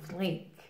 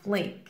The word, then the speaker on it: fleek: is to be on fleek on flink here careful pronunciation fleek fleek now if someone or